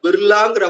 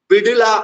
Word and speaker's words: பிர்லா: நம்ம பிர்லான்னு சொல்றோம். இந்தி உச்சரிப்புல பிர்லாங்கிற வார்த்தை யூஸ் பண்றாங்க. பிடிலா அப்படிங்கிற வார்த்தையும் இந்த ட மென்மையா சொல்லி பிடிலாங்கிற வார்த்தையும் யூஸ் பண்றாங்க.